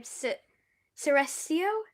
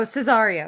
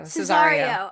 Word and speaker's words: Cesario: And then like, Olivia runs out, and then she thinks Sebastian is, I don't know how to pronounce his name, Ceresio? Oh, Cesario. Cesario, Yeah.